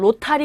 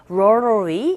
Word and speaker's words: rotary: If you are calling from a rotary phone, 우리 보통 로타리 이렇게 발음하는데 로타리가 아니라 rotary 이렇게 발음이 돼요.